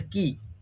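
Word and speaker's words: quay: পরে হচ্ছে এটা এর আগের দিন আমি বলেছিলাম এটার প্রোনাউন্সিয়েশন কি হবে, এটার প্রোনাউন্সিয়েশন হবে কি।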